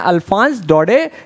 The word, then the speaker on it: Alphonse Daudet: writer author जो हैं उनका नाम है अल्फांस डोडे या फिर अल्फासे डोडे ऐसे याद रख लो स्पेलिंग सही होनी